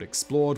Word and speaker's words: XPLRD: If you have enjoyed this video, maybe you'll enjoy another channel that I do called Explored, which is spelled X-P-L-R-D.